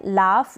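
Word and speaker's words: laugh: यह लाफ क्या है लाफ यहां पर जी ह को फड़ा जा रहा है जी को जी या ह को ह इस तरीके से आप इसको रीड नहीं करेंगे लाभ मतलब हंसी ग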